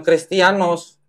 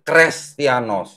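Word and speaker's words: Χρηστιανός: jadi apa nih jadi kalau ini menjadi seperti Huruf H atau Eta bacanya ini bukan christianoz tapi kres beda arti ya itu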